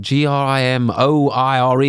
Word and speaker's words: grimoire: that check out the grand grim ross if i got that right i know the word do you mean it's definitely like g-r-i-m-o-i-r-e or some like that but i don't know how you say it what other thing were you checking out oh here we are what is it grimoire yeah and so by what's his